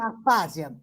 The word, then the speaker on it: Aspásia: Gostei muito Eu não conhecia a história da Aspásia, não sei, é assim que se pronuncia Sim, mesmo? Aspásia, Aspásia.